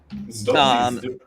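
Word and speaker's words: Zdob și Zdub: He knows how to pronounce it better. Zdub.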